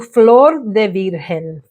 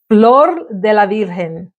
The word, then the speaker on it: Flor de la Virgen: I'll go next to Flor de Virgen. Flor de Virgen. Oh, I said it wrong. Flor de la Virgen.